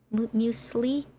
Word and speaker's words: muesli: Wait, Kellogg's has a muesli? How do you say that word? Is it muesli?